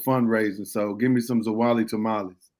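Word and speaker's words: Zwolle: I used to pronounce Zawali Zwol. I thought it was Zwol for a long time. The only reason I know it's Zawali is because they known for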